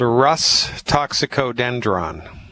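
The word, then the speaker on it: Rhus toxicodendron: First, I'll say it, then I'll spell it. It's called Rus toxicodendron.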